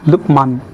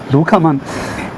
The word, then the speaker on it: Lukhmaan: So is a teacher and student relationships and his name is pronounced as Lukeman. I guess this kind of goes towards the Cantonese. You got to you got to pro pronounce his name that way to sound smooth. Lukeman. So um the Chinese version is directly pronounced as Lukaman.